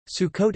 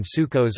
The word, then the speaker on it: Sukkot: Sukkot Hebrew soir or Sukhois Sukkot commonly translated as Feast of Tabernacles traditional Ashkenazi pronunciation Sukkos or suckas also known as chang-ho